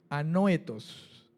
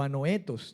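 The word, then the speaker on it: ἀνόητος: La palabra insensato es un adjetivo que en el griego es anoetos o anoetos, tiene como un acento en la E y significa sin pensar, alguien que no piensa, ¿verdad?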